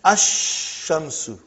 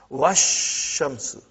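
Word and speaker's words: الشمس: And then ash-shamsu. No al, no lam. When I say, I shouldn't say al. I should say no lam. Hamza is pronounced. But if waw came, put waw in front of this, you will say wash. Even alif and lam both were assimilated. Wash shamsu. Okay?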